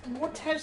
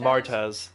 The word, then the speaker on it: Martez: But yeah, anyways, at the end of the episode, we see it's Mortez sisters, right? I'm getting that right? Mortez? The Martez. Martez. Yeah. Put the emphasis on the wrong vowel.